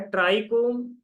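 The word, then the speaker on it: trichome: आगे स्प्रेड नहीं होता है पांचवा आता है ट्राई कोम बिटगो इसकी स्पेलिंग है टी आर आई सी एच ओ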